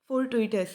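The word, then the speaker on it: fortuitous: इसका प्रोनाउंसिएशन थोड़ा सा ध्यान रखिएगा, फोर्टुइटस है, ठीक है।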